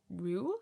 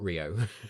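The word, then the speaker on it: Rieu: M I've also been to see Andre Ru, I think his name is pronounced. Ah, not Rio.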